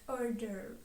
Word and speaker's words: hors d'oeuvre: is not pronounced and the e at the end of the second word is not pronounced as well so we are left with order next tip you can